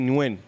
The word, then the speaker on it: Nguyen: Cody Nguyen. Yeah. Nguyen. Yeah. It's like Illinois. Yeah. It's silent.